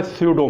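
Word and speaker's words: pseudo: ो लिखा जाता है पी एस ई यू डीओ इसमें में प साइलेंट रहता है इसको सूडो कहते हैं अच्छा ये कहलाती है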